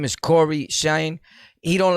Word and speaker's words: CoryxKenshin: him his name is corey shine he don't like you to pronounce the x in his name is silent and i just remember